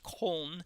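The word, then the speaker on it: Köln: he lived in cold we call it Cologne but it's pronounced home they have a team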